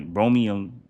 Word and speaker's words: bromelain: Will break it down so it can help with um ingestion cuz one of the properties that by bro I'm sorry, bromelain bromelain My pronunciation's all messed up.